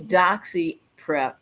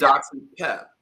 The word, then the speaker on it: doxyPEP: great question uh and I want to um ensure that I say doxy pep because so I'm saying it wrong I'm doing it wrong it's doxy pep it's doxy pep okay I'm gonna draw